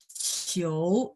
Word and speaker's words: 球: Ingat ya, QIU bacanya CHIOU. 球 ada 2. 球 tadi kita ada latihan ya di pinyin ya.